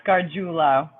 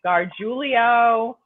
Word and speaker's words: Gargiulo: do you pronounce it it's carjullo arjula okay forgive me for that one so no that's fine i'd rather you tell me that because so many people have mispronounced my name um i've been gar giulio i've been gargulo better off than i